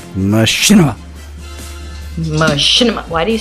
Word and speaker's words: Machinima: She was part of BRB, and she has since moved on to Machinima.